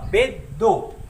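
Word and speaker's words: ベッド: तो इसका काम क्या होगा, इसके राइट साइड में, मतलब इसके बगल में जो कॉन्सोनेंट है वो इसको डबल कर देगा। तो इसका जो प्रोनाउंसिएशन आएगा वो प्रोनाउंसिएशन होगा बेद्दो।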